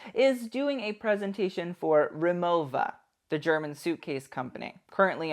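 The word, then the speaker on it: Rimowa: that the fact that nobody pronounces remova in the proper German pronunciation is a bit strange to me it's like a weird oversight I'm not saying they all had to go all old school Bavarian on us but you could just say the V instead of the W like the correct pronunciation peeps you know and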